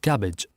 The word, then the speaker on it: CABG: Seven, coronary artery bypass grafting or CABG, pronounced as cabbage, a surgical procedure in